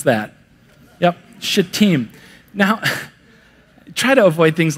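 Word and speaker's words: Shittim: sent two spies from team is how you pronounce that yep should team now try to avoid things like that but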